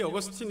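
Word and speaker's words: Augustine: 이탈리아에서 주로 활동했던 여러분 아우구스티누스, 영어식 발음으로 이야기하면 어거스틴이라고 하는 사람이에요. 이 어거스틴이 이렇게 이야기해요.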